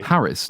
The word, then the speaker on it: Paris: someone it's Madam mad it's like the French called Paris par but we don't do that because we're not we're not gay so it's Paris wait wait platoon but wait a minute just just saying onov on quickly quickly in the colloquial sense of the term like we're not French gay that's what I'm talking about so it's it's Paris not perie but never and so